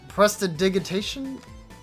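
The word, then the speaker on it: prestidigitation: petite press uh uh press to dig itation pressed digitation yeah that's how it's pronounced but like oh my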